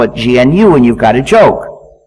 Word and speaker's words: GNU: so it's not new anymore so call it gnu says a GNU system there's another pronunciation error you need to avoid which sounds